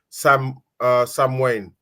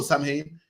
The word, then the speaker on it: Samhain: And this day we call Samhain. It's pronounced Samhain, but it's spelled Samhain.